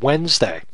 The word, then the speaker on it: Wednesday: It was the word Wednesday, the day of the week. Now, the way it's spelled and the way it sounds are really two different things.